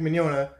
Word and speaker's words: Mignogna: well immune to this pronounced just like lasagna so well in a